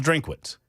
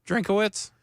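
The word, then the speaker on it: Drinkwitz: is that a three is his last name three syllables? Have I been saying it wrong? I thought it was Drinkitz. Drinkawitz.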